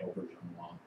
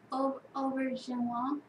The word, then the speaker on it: Auberjonois: Rene Auberjonois. Auberjonois. I'm pretty sure that's how it's pronounced.